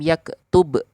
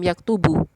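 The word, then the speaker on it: يكتب: sukun Oleh sebab itu kita bacanya lam yaktub bukan lam yaktubu tapi yaktub kalau ditanya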